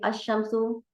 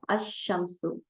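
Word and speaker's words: الشمس: आवाज आप नोट करेंगे, अशम्सु लाम को नहीं पढ़ा गया और शीन को डबल पढ़ा गया, और अलिफ से शीन को डायरेक्ट जोड़ दिया गया, बीच में का लाम साइलेंट कर दिया गया, अशम्सु।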